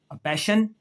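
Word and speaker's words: passion: अब वो कह रहा है कि एस के बाद अगर आई ओ एन आ जाए आई ओ एन आ जाए या फिर आई ए आ जाए क्या आ जाए आई ए तो फिर भी शीन की आवाज आती है कैसे ये देखें सेशन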